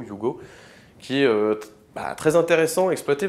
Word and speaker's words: Hugo: s'appelle le you go le prononce comme ça hugo you go qui est très intéressant